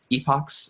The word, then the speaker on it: epochs: X train Y train epochs or epochs depending you know how you pronounce it this is just how